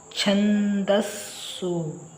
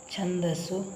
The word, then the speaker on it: ಛಂದಸ್ಸು: ಮತ್ತೆ ಎರಡು ಪದಗಳನ್ನ ಬರೆದುಬಿಡೋಣ ಛಂದಸ್ಸು ಅಂದ್ರೆ ಛ ಇದಕ್ಕೆ ಸೊನ್ನೆ ಕೊಟ್ರೆ ಛಂದ ಇಲ್ಲಿ ದ ಅಕ್ಷರವನ್ನ ನೋಡಿ ಇದರ ಉಚ್ಚಾರ ಮಾಡಬೇಕು ಇಲ್ಲಿ ಛಂದಸ್ಸು ಛಂದಸ್ಸು ಮತ್ತೊಂದು ಸಖೆ ದಾಶ್ಚ ಚರ್ಯ